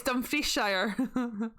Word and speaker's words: Dumfriesshire: It's Dumfriesshire. Actually, see, people actually might know how to say this. They might call it Dumfries. Dumfriesshire. But it's Dumfriesshire.